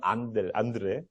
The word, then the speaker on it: 안드레: 그 앙드레는 프랑스식 발음이고 영어식 발음은 안드레.